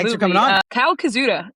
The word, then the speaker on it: Koszuta: Kyle Koszuta. I think that's how you say it, correct? That's right.